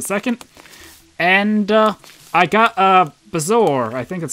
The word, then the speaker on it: bezoar: And, I got a Bezoar, I think that's how I pronounce it. Right? Yeah, it's a Bezoar.